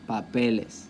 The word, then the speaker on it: papeles: Once I add ES, the stress stays there because it's on the second to last, papeles, papeles y papel, okay?